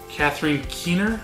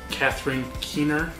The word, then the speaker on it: Catherine Keener: Catherine Keener, I think is how you say her name, also in an episode of Seinfeld, so gotta love her.